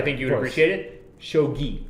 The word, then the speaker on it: shogi: up and they try to beat Hitler and Shoji and it's like I'm only gonna correct you because like you're going to Japan and like yeah I think you would appreciate it shogi shogi yeah okay yeah where someone was like uh